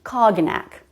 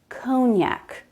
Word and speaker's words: cognac: I thought it was pronounced cognac. I can see why she thought that. Look at the letters, cog-nac, but it's cognac. Cognac.